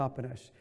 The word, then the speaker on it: Toppenish: Toppenish.